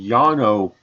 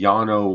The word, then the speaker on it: Llano: And so so here is the Llano granite. Along the Llano River in Llano, Texas. That's spelled L-L-A-N-O. Two L's make a Y in Spanish.